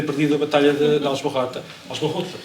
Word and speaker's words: Aljubarrota: Aljubarrota, por acaso acho que é assim que se pronuncia. Aljubarrota, sim.